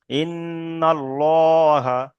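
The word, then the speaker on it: الله: যেমন ইন্নাল্লাহা, ইন্নাল্লাহা। তারপর আল্লাহর শব্দের পূর্বে কিংবা আল্লাহর শব্দের লাম মুসাদ্দাতের পূর্বে যদি জের থাকে, তাহলে আল্লাহ শব্দটাকে লা উচ্চারণ করতে হবে, লা করে পড়তে হবে, লা। যেমন বালিল্লাহ। তাহলে যদি পুর হয়, তাহলে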